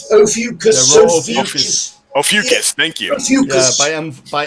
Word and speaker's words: Ophiuchus: I really want to get I can't even pronounce the name of the nebula, the Ophiuchus. Ophiuchus. The Ophiuchus. Ophiuchus, thank you.